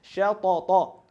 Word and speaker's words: شططا: شططا, right? Make sure that each of these ta's are equal in its pronunciation and in its haraka.